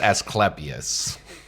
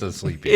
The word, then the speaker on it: Asclepius: It could be pronounced Asclepius. No, it's Asclepius. It's Asclepius.